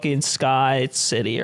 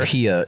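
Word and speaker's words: Skypiea: I made it to like Sky City or whatever. Skypia.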